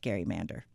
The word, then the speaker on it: gerrymander: I want everybody to understand that it is pronounced Gary Mander. So now back to what Gary Mander means.